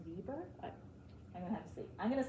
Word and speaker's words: Weber: to have to check if it was German that's probably pronounced Viber I I'm going to